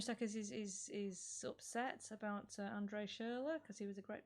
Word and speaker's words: Schürrle: Andre Schürrle is how you pronounce it. Yeah, Schürrle.